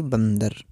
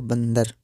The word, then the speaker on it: बंदर: अम कहेंगे, जैसे कि बंदर। ठीक है, तो आपको हमेशा ध्यान रखना है इस बिंदु को म की तरह हल्का सा उच्चारण किया जाता है।